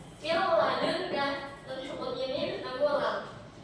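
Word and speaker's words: مِن لَّدُنكَ: Mil ladunka itu cara bacanya langsung dengan tidak mendengung. Mil ladunka, nun sukun ini bertemu lam.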